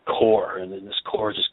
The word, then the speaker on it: Quor: If you first look at it, everybody says Quor, or there's right. a lot of different renditions of it. And then we're able to say, no, it's just it's pronounced or spelled liquor minus the LI.